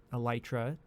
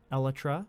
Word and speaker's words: elytra: a long tiate about the correct pronunciation of uh elytra you know I I claimed it was elra which was a very